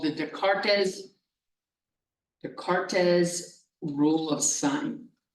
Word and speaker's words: Descartes: Something else you can do here is called the Descartes rule of sign. Descartes rule of signs. The S, this S is silent, the cart is.